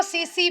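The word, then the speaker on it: tsetse: फैलता ये लिख लो सी सी फ्लाई टी साइलेंट होता है इसमें इंग्लिश भी बड़ी अजीब है बोला क्यों है अगर साइलेंट रखना है तो बोलना भी है अब बेचारे बच्चे क्या बोलेंगे टिसी टिसी ये क्या है सीसी फ्लाई हमारे यहां एक लड़का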